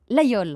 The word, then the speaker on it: Laguiole: Tiens, vous qui êtes de la région, vous l'Aveyronnaise, une fois pour toutes, on dit Laguiole ou Laguiole ? Vous l'avez très bien prononcé et c'est Laguiole.